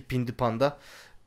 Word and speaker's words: Pinti Panda: Akşen yani tabii ki Pinti Panda. Pinti Panda dedi, doğru telaffuz dedim. Pindi mi dedim? Pinti Panda efendim.